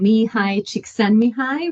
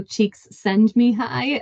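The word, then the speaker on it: Csikszentmihalyi: surname is somebody said when you smile it sends your cheeks high so cheeks send me High um is how they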